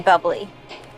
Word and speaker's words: Bubly: You mean bubbly. No, I mean buble. You're Michael Bublé. That's a bubbly. She's right, Michael Bublé. It's pronounced Buble, I know, thanks.